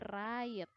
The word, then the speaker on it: right: Nah, jadi cara bacanya bukan right ya, tapi right. G sama hanya ini silent.